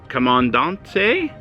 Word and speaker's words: Comandante: are reviewing the commandant but Jack said is pronounced I said right come on Dante come on down come